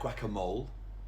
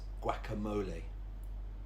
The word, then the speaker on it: guacamole: And next is, it looks like guacamole, but it's an extra syllable, so it's guacamole.